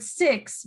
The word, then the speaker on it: six: i say the word six right and i actually pronounce all the sounds that are in that word right it's right the the letter x is actually going to have two phonemes phonemes in it so